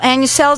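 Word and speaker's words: AniCell: Annicell, did I say it correctly?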